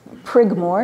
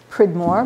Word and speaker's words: Prigmore: um the reverend prigamore it's prigmore not pridmore but i guess he